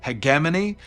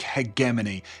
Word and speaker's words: hegemony: England we pronounce that hegemony uh it's one of those rare occasions where actually I prefer the American pronunciation so I'm I'm just going to use that I do not like hegemony it sounds like I'm